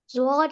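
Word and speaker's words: ضاد: Zwad has one dot on it. It sounds close to the letter Z of English language.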